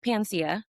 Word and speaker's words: Paniccia: website, I was like, I think it sounds like it looked like Panacea. hmm Is that right? Okay. Panacea, yeah. Panacea.